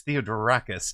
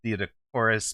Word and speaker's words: Theodoracus: I got his name wrong. It's Theodoracus, not Theodorus, but I will honor bets on Theodocorus as bets on Theodorus.